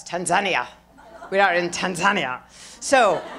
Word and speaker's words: Tanzania: We call it Tanzania, but they say Tanzania. And they correct you. Hi, it's so nice to be in Tanzania. No, it's Tanzania.